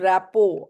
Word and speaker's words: rapport: This is rapport. RT is silent.